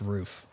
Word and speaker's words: Ruf: It's pronounced roof.